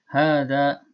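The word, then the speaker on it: هٰذَا: Hadza, ya, ini dibaca panjang, ya, meskipun tidak ada alif, ya. Hadza dibacanya panjang.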